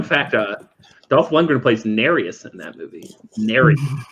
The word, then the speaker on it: Nereus: 2 points fun fact uh dolph lundgren place nary us in that movie narrative pronounced Nereus alright 19 to 21 hanging either of your